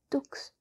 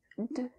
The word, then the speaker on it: deux: Yeah, I heard the mistake you made just there, and it's not pronounced dux. It's de, de, un, de, un, de.